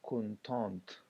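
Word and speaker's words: contente: بیا مؤنث دپاره موږ کونتانت، کونتانت هلته ت تلفظ کېږي ځکه چې هلته ا ورسره اضافه شوی دی.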